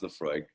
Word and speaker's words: Laphroaig: and this is called laphroaig uh and again you'll notice a very peculiar spelling to this word um uh and it's just pronounced the freud um and we're gonna